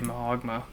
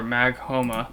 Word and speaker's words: Maghoma: gonna have to be Mahogma. Or Maghoma. There we go. That's how you say it.